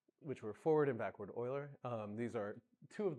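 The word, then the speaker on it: Euler: By the way, if you if you if you pronounce it uler then you will fail your exam. And uh right so uh forward and backward oiler basically make very simple approximation.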